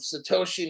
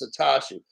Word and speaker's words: Satoshi: to the fact that he mispronounced the first half of Satoshi Nakamoto as satachi who the [ __